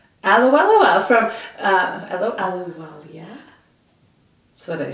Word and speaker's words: Ahluwalia: I'm not going to try and pronounce her last name. It's Ahluwalia. Ahluwalia from Ahluwalia.